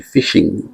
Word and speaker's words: phishing: p h i s h i n g, fishing. Pronounced as being One of the methods is that they will send you form.